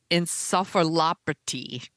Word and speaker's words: encephalopathy: Now, I looked this up so that I could pronounce it correctly. Chronic traumatic encephalopathy.